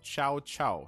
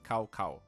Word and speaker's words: Cao Cao: lee for pointing out the correct pronunciation of chow chow not cow cow so ciao ciao um is his pronunciation